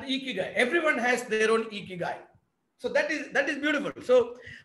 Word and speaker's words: Ikigai: So this is pronounced as Ikigai.